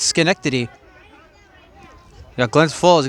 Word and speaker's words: Schenectady: I want to say that right, folks, because you got the CH in there at the top, but the H is silent. It's Schenectady.